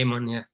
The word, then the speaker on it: Amon: Amon, we generally say Amon, Amon, okay, yeah, so I'm saying it right in the first place.